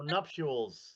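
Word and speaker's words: nuptials: So, nuptules is the way that it goes.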